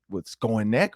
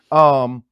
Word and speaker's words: Skowronek: Like, look, nobody's going to go with Skonek or whatever, how you say his name, Ben. Skowronek.